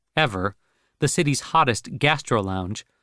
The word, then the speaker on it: EVR: The fact that he was merely a small partner in EVR, pronounced Ever, the city's hottest gastro lounge, a club Charlie's